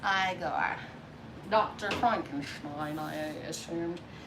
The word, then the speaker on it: Igor: oh you must be eager right now it's pronounced igor dr frankenschmein i assumed